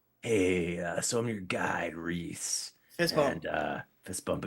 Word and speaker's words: Rhys: Reese.